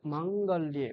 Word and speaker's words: माङ्गल्ये: এই যে মাঙ্গল্যে, ময়াকারটা দীর্ঘ। হুম, এটা দীর্ঘ উচ্চারণ করতে হবে।